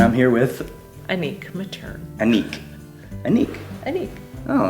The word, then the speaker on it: Anik: But in French, because it's a French name, Brittany, Yeah. you pronounce it ANIK. It's ANNIQUE, the old version.